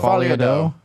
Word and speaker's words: Folie à Deux: I'm not gonna pronounce this right. Joker Folly Deuce I think Doe. Doe. Folie à Yeah, Deux. Folie à Deux.